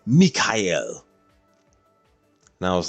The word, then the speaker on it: Mikhail: other guy's name, and that guy's name was basically the equivalent of Michael, and he said it's Mikhail.